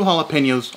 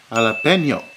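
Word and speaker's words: jalapeño: Then add 2 jalapenos, also chopped. And let's get this straight, white people. It's pronounced jalapeno, not jalapeno.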